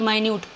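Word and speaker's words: minute: वो है माइन्यूट अगर आप इस वर्ड की स्पेलिंग देखोगे तो इसको हम मिनट भी बोल सकते हैं यही इसमें एक बेसिक डिफरेंस होता है जब हम समझते हैं इसका क्या आंसर होगा तो मिनट और माइन्यूट दोनों ही डिफरेंट मतलब के हो जाते हैं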